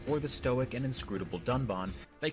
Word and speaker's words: Dunban: disagree with, and then calls the character Dunban Duncan. This time, however, they did edit out the mistake. But even in the re-edit, he still pronounces the name wrong, with a horrendous drop